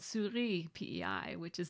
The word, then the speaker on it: Souris: going to call it Souris, which is, well, in French, it's the word for mouse, and it's actually pronounced more like souris.